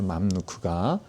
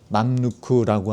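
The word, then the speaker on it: 맘루크: 마누크가. 그래서 그냥 뭐 일본식으로 마을 넣고 뭐 이런 식으로도 발음하는데 우리 한국어은 받침 발음을 잘 되기 때문에 맘누크라고 하는 것이 이제 더 정확한 표현이 되겠죠.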